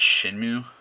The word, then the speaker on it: Shenmue: I do believe it's pronounced Shenmue.